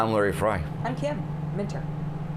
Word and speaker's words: Minter: I'm Kim, Minter. Rhymes with winter.